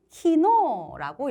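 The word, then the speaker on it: 昨日: 어제는 키노라고 읽습니다. 키노라고 읽습니다.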